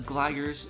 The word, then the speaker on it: Delta Gliders: team name called the delta gliders pronounce it as gligers it's named after the